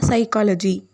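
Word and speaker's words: psychology: For example இந்த word PSல start ஆகிருக்கு, ஆனால் இதை நம்ம எப்படி ப்ரொனவுன்ஸ் பண்ணணும்னா சைக்காலஜி. பி சவுண்ட் வந்து வராது.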